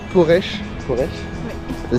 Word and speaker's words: Poreč: Bonjour, on se retrouve à Porche Porche ou ça s'écrit mais c'est Porche qui a l'accent chapeau à l'envers.